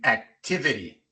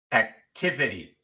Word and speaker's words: activity: Hospital igual en activity. Activity. La segunda T viene entre dos vocales y al principio de una sílaba no acentuada.